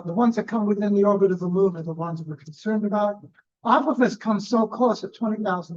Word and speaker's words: Apophis: forgotten because I'm Apophis, pronounced by Neil deGrasse Tyson, Apophis. That is incorrect. The Egyptian is Apophis.